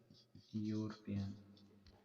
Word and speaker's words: European: For example, European. European. So here the sound is your sound.